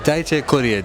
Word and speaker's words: Dayche Coeriel: Jamstalk, I'm here with Dayche Coeriel.